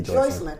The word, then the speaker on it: Joycelyn: Just say Joycelyn. Okay, Joycelyn. I don't know if I thought her name was Joycelyn. Maybe. Joycelyn. It's spelled like Jocelyn, but they said Joycelyn.